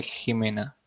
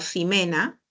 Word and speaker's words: Jimena: nombre Jimena con x Jimena con x J as porque suena como J suena como j pero si si Jimena la pronuncian como simena sería así pero en este caso tú has pronunciado esto Jimena no has pronunciado simena Ah gracias nada bien